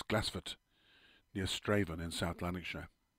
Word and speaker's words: Glassford: old Kirk and Cemetery at glassford pronounced local as glassford near straven in South